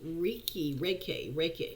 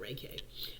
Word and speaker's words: Reiki: Okay, another mind control activity I want you to do is Reiki. It's called Reiki. Let me spell that for you.